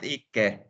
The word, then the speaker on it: icke: But it's pronounced icke, even if it's I say ki, go in.